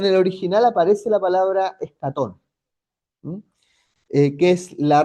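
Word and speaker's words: ἔσχατον: Eso que ustedes ven ahí en griego es escatón. Ya. Así se pronunciaría en nuestro en nuestro idioma, ¿ya?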